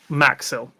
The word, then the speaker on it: Maxil: Um, the name's Maxel.